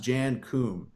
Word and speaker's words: Jan Koum: Now, he is Ukrainian, so I believe it's pronounced Jan Koum.